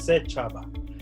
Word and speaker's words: Sechaba: So it's almost like and Chaba. So it's Sechaba. That's how I normally pronounce it.